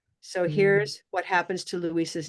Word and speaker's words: Luis: Both are two syllables, but the way Spanish behaves, it sounds faster.